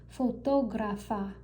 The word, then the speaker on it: fotógrafa: her profession, her job, I have this accent over the O, which is why when I pronounce it, I emphasize that O. Juliana es fotógrafa, fotógrafa.